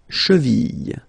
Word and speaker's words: cheville: you get la jambe, la cheville, remember, double L like that, after I, y, y, cheville.